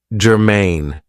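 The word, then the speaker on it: germane: Now, this is two syllables and the stress is on the second syllable. Germaine.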